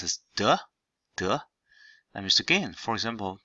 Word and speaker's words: 得: So this is day third tone. That means have to. Also can be pronounced as 得 That means again.